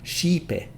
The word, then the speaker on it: Xipe: qualifies this noun case this condition lets us drop the till suffix to pronounce the name shipe a suffix reappears with